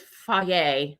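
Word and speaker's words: Fage: so good culture cottage cheese uh mixed with foie which is spelled f-a-g-e yogurt and uh they are i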